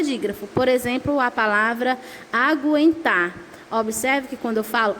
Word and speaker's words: aguentar: o que o mas se na palavra você pronuncia a letra U aí ele não é dígrafo por exemplo a palavra aguentar Observe que quando eu falo ago em tá